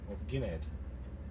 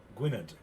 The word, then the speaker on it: Gwynedd: Gwynedd. That's how you say it, Gwynedd.